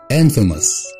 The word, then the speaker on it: infamous: number 16 عارفين كلنا ان famous معناها مشهور, لكن الكلمة دي infamous, infamous, مش infamous, infamous, وبرضو معناها مشهور.